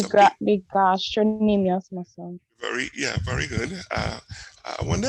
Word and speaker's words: gastrocnemius: No, it has a C, yeah. I'll have to check to see if that C is silent. You might be onto something there, I just never thought about that.